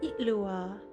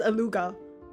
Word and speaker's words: Itlua: Itlua. Wait, I like the way his name is pronounced. I thought it was Aluga. In fact, I think we had some former Frost Moon Scions join our ranks recently.